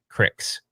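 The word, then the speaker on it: Krikzz: made by this company I say it wrong Crick's yeah so it's k RI k ZZ they'd this guy you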